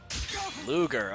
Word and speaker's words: Ludger: Ludger, okay. That's how you pronounce his name. I was pronouncing it Ludger. Ludger. Okay, that makes sense. There's a G in there.